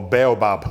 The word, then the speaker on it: baobab: And anybody know what baobab fruit is? Or baobab, as it's spelt.